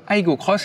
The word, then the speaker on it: Aygo X: aujourd'hui la nouvelle toyota aygo crosse alors c'est écrit aigo x sur la carrosserie mais ça se prononce à l'anglais car ce sera tout simplement la petite soeur de la toyota yaris cross cette nouvelle génération